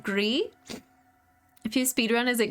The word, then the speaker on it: Gris: I was informed it is pronounced Gree.